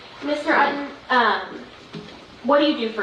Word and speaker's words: Utton: My name is Ayden. Last name is spelled U-T-T-O-N. It's just like button, but there's no B.